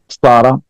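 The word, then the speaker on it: سارة: मजे की बात यह कि एंड में ये प्रोनाउंस नहीं होती। तो जब हम कहते हैं फातिमा, तो नहीं कहते हम कहते हैं फातिमा सारा। आखिरी लफ्ज जो होता है अरबी में, इट इज नेवर प्रोनाउंस्ड, तो फातिमा सारा ऐसे कहेंगे आप।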